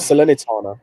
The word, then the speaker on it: Salernitana: to pronounce it. I thought you could speak. Salernitana. I thought you spoke. It was Salernitana.